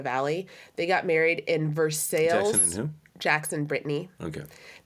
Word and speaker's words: Versailles: Definitely not pronounced that way. It's Versailles.